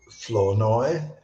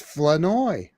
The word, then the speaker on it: Flournoy: I believe I would pronounce it is it Flournoy? It's Flanoy. Flanoy. I kept saying Flournoy. No, not Flournoy.